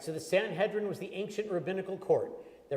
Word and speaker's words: Sanhedrin: The Sanhedrin, did I say it right? Sanhedrin. Sanhedrin, thank you.